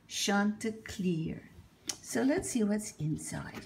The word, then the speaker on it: Chanticleer: Chanticleer and the Fox I think before the name you must have been Shanta PA in French but I guess we have to pronounce it Chanticleer so let's see what's